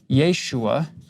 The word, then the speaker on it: Yeshua: the Aramaic name will you can put either a y or a j because they're both pronounced with the ya sound the long form yahushua or the short form Yeshua that's that's what Jesus